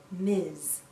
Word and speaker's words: Ms: mrs jones m s we pronounce this as miz miz sounds like a z at the end miz a woman can choose